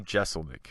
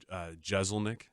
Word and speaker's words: Jeselnik: Do you feel like the pronunciation, though, is clearly S? It's clearly S. I mean, it should be. I remember I would always get mad when people say Jeselnik.